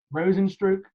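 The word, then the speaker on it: Rozenstruik: Is that how you pronounce his name, man? Yeah, you got it right. Rosenstruck?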